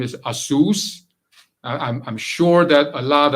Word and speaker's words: ASUS: And for those of us who previously mispronounced the word and called it ASUS or ASUS, you now know that it's ASUS.